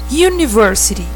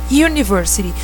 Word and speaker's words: university: Quando eu falo university, ela soa no inglês com um som de Y, embora comece com U. Mas ela tem o som de Y. Parece que você está falando you. You, você, que começa com Y. University.